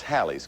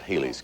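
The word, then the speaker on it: Halley's: commercial break she said son you mispronounced hallie's kate's hallie's comment not haley's comment so thank you mom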